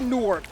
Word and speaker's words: Newark: How do you say Newark or Nork? Nork. Nork, is that how we say it? Nork. There's a little W in there, but if you say Nork like N-O-R-K, you'll pass.